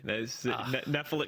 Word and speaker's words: Nephilim: YA novels and also occasionally the Bible, you've pronounced it correctly. Nephilim.